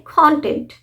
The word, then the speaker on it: content: जो विषय वस्तु है अब यहां पर भी है ना सिलेबल का ही सारा गेम है कंटेंट कंटेंट हमने इस